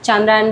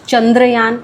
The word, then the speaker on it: चांद्रायण: in fact जो उच्चारण है चांद्रयान व्रत का किसी ने कहा कि इट्स नॉट चंद्रयान इट्स चांद्रयान कहीं-कहीं पे मैंने ऐसा भी सुना चंद्रयान भी बोलते हैं तो एक बात